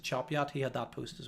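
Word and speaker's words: Chop Gate: And I always call it Chopgate, but apparently it's Chopyat. If you're from that part of the world, you pronounce it Chopyat.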